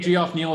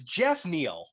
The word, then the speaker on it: Geoff Neal: is a good fighter it's jeff neal g off jeff it's look how it's spelled no jeff is j-e-f-f j-e-f-f is how you spell jack if you want to confuse it g-e-o-f-f is geos all right fair enough geoff neal it is fair enough we're going